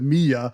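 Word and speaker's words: Milla: Uh because you know like by the time you get to me m it's spelled Miller but they pronounce it Mia.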